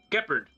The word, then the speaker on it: Gepard: It's pronounced Gepard. Is it? So I heard from the actual English voice actor for Gepard.